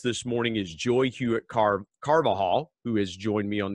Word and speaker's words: Carvajal: the intentional encourager podcast i stumbled just a tad but i wanted to make sure i pronounced your last name right because you have an unusual last name it's spelled c-a-r-v-a-j a-l so that that j can trip you up how are you today